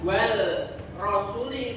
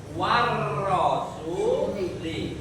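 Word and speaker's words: والرسول: Warasuli alnya lebur atau masuk kepada huruf huruf ro bukan wal rasuli tapi war rasuli.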